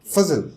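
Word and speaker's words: Fazal: z a l and it's pronounced fuzzle because i have had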